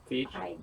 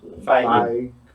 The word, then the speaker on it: Feige: Feige. Feige. Feige.